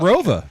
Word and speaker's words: ROWVA: after I graduated but it's always been pronounced as Roa so what was the